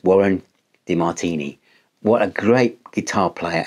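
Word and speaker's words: Warren DeMartini: you know from from Warren to Martinique is it's just sorry I said his name wrong then I'm in case Warren ever watches this Warren De Martini what a great guitar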